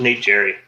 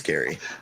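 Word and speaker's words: Gerry: Or I always thought it was Nate Jerry. I don't. It's Gary.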